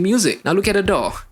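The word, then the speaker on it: DAW: Now look at a D.A.W (pronounced as door without the "r").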